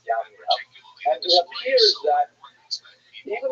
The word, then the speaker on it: Jamnia: So the Roman term for Yavne is Yamnia, sometimes spelled with a J, pronounced Jamnia, but really it's Yamnia.